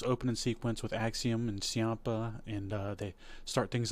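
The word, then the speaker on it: Ciampa: Chia or Chia? I don't know. But he I believe it's pronounced Champa. Like like there's an H in there.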